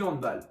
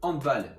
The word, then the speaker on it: handball: Donc comme le sport est d'origine allemande, on va le prononcer handball et non handball.